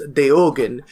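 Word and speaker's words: Deogen: your so uh uh the one we pronounce as deoen is deogan it is a Belgian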